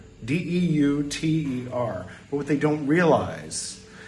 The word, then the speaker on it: Deuter: would assume that it's Deuter, D-E-U-T-E-R. But what they don't realize is that with a German pronunciation, it's Deuter, because they don't say Zeus, they say Zeus, which sounds a little like Zoinks.